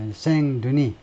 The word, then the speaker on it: Saint-Denis: 프랑스어는 마지막 장을 발음하지 않습니다. Saint-Denis.